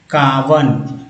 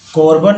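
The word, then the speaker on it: carbon: एंड कार्बन, कार्बन, कोर्बन नहीं, कार्बनिक, कार तो बोलेंगे, कार्बन, ओ को आ बोला गया, कार्बन मोनोक्साइड।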